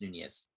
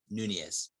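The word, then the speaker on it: Núñez: That he gave us a hard game when we played against Nunez. That's how you pronounce it, guys. Nunez.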